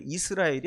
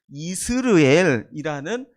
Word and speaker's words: 이스르엘: 전쟁 속에서 부상을 당해서이 이스 이스라엘이 아니고요 이스르엘이라는 그 지역에서 지금 치료를